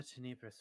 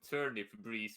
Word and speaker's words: Tenebris: I'm from the Tenebris familiar, as she does a sort of turn. Oh, that's how it's pronounced. I thought it was the turnip breeze familiar. No.